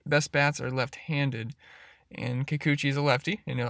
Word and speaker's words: Kikuchi: then the next guy like is gonna be Kikuchi that's how you say his name it's gonna